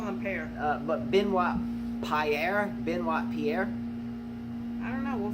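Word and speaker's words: Benoît: Benoit, Benoit, I think. How do you, I always say pear. Benoit, like a beignet, like the French or the Cajun treat that's got powdered sugar on it.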